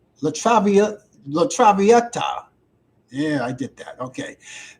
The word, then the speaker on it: La Traviata: Let me pronounce this correctly. It's called La Traviata. La Traviata.